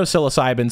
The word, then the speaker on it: psilocybin: right into s tier even though psilocybin sounds like it starts with an S it doesn't it starts with a P so uh yeah English language thank you for silent letters that's not super helpful